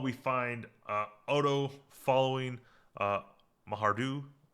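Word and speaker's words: Maihar'du: Oh, meanwhile, we find Odo following uh, Mahardu. Pronounce it again for me, Pike, because I probably mispronounced it. Mayhardu.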